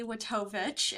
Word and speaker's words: Watovich: Hi everyone, my name is Watovich, is how you pronounce the beast of a last name.